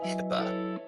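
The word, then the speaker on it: HIPAA: or HIPA and we they just pronounce it HIPPA.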